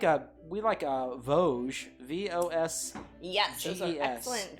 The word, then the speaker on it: Vosges: Yeah, it's like the mountain range, I think. Yeah. Right. I think so. Probably. And it's probably pronounced the same. Yeah.